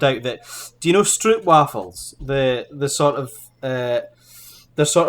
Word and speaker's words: stroopwafel: Yeah, so it's not actually pronounced stroopwafel. It's stroopwafel.